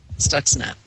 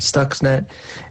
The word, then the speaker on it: Stuxnet: snacks stuck says I can I can never pronounce what is this stocks net Stuxnet yes dogs net all right Stuxnet that was a program used which was developed